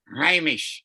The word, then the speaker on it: Hamish: or something Hamish Hamish Hamish Amish is how you pronounce it Hamish it's so easy